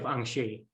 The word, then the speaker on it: Angers: great well thank you it's pronounced the university of angshi it's in france yeah